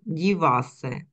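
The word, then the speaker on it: dívá se: Он дівасе. Дівасе, так? Тут наголос на перше дівасе.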